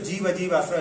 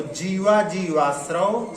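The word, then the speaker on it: जीवाजीवास्रव: हाँ, इसके पढ़ते समय ध्यान रखें, कई बार लोग पढ़ते हैं तो जीव अजीवाश्रव ऐसा पढ़ देते हैं, तो अपने को ऐसा नहीं, जब सूत्र का उच्चारण करना है तो जो उसमें लिखा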